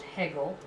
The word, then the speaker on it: Hegel: we start with Hegel it's pronounced Hegel okay not HG Wella h no no exactly